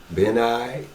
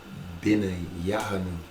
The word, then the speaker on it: Benaiah: And they're missing another syllable. Benaiah.